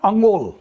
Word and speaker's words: انگول: تو اب وہ کیلا بس اس سے تھوڑا بڑا ہے, لیکن پٹھواری کا جو تلفظ ہے نا وہ ہے انگول. انگول, اس کو انگول کہتے ہیں.